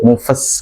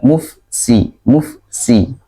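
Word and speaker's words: مفسدون: Nah, kesalahannya jadi kedengarannya seperti fa-nya langsung ke sin, mufas gitu jadinya ya. Tapi yang benar adalah mufsi. Jadi ada sedikit dari fa ke sin ya.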